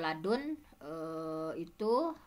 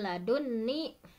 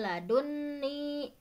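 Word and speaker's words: لدني: Kalau ladun itu bersambung dengan ladun ya, nun wikoyah itu dibacanya tasydid. Mil ladunni, karena nun wikoyah yang bersambung dengan ya mutakalim bertemu dengan nun yang ada pada ladun sendiri. Jadi memang nun ada dua nun ya, nun asli dari ladun, dari kalimah ladun, kemudian ada nun wikoyah. Jadi kenapa dibaca tasydid? Karena ada dua nun di sana.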